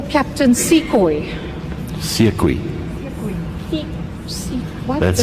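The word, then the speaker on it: Sekoei: Uh let me just um it's sui um s e k o e i according to the list of witnesses.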